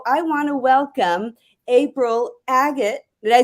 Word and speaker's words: Agate: And so I want to welcome April Agate.